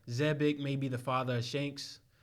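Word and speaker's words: Xebec: saying that um uh zebek and i've been saying it wrong this whole time zebic may be the father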